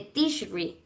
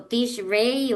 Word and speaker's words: Tishri: Y aquí les traje que el mes séptimo es el mes de Tishri, o Tishrei, o bueno, ahí ustedes la pronunciación.